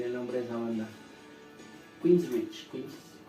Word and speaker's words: Queensrÿche: Queensrÿche. Bueno, se escribe Queen y después Rich. Okay. ¿Sí? Y creo que yo una S en medio. Yo la pronunciaba como Quincy Rich.